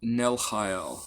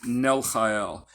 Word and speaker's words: Nelchael: Okay, so if you have trouble pronouncing the ch, don't worry about it. But you can just do an H sound, Nelchael. Okay, Nelchael.